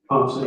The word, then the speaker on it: Ponce: And Officer Ponce, is that how you pronounce his name, Ponce? Ponce, yes.